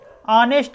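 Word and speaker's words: honest: देखिए option B जो दिया है ऑनेस्ट इसको बोलते हैं, यानी कि इसमें क्या है, एच साइलेंट होता है।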